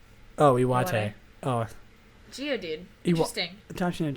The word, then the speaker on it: Iwate: I probably just butchered that, but whatever. Iwata? Oh, Iwate.